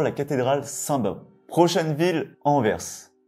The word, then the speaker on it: Anvers: cathédrale saint-bome prochaine ville Anvers et oui le S se prononce on verse c'est la deuxième plus